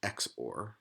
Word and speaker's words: XOR: I guess here is what's called exclusive or or usually pronounced just x4 so what's true about